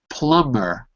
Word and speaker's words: plumber: me plumber plumber provider it's silent right it's silence it should be plumber' but it's not it's an exception it's silent because the original word is plum which is spelled with a be so when you add the ER it remains silent where is a number